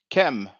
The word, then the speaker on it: km: black of the eye is pronounced chem chem now first what happens we just have the the the k and the m and then when we pronounce it you know we just add the vowel e as the standard uh convention of egyptology uh goes and the white which